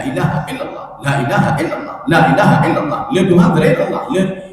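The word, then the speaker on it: لا إله: Sebenarnya kan boleh bacanya panjang, apa namanya cepat, tetapi la-nya dipanjangkan sedikit. La ilaha illallah, la ilaha. Jangan la ilaha illallah, la ilaha itu salah.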